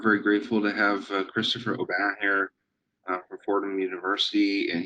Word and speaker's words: Aubin: Um, so yeah, as Joel said, I'm Christopher Aubin. Yes, the proper pronunciation is Aubin, but like any good American, we've bastardized our name.